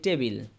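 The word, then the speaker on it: table: ঠিক না কিন্তু শুদ্ধ উচ্চারণ হচ্ছে টকে ঠ উচ্চারণ করা হ্যাভ টু যেমন আমরা বলি টেবিল আমরা বলি কি টেবিল কিন্তু এটার শুদ্ধ উচ্চারণ হচ্ছে টেবল ঠেই বল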